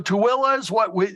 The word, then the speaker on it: Tooele: Tooele, although we've heard Tooele, you know, and so Tooele is what the state tourism website.